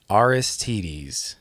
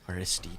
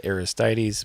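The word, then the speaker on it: Aristides: okay I've heard the name of this guitar pronounced several ways but then I heard from the actual company aristes aristes is what this is called I always said aistis but that's wrong rstd it sounds like like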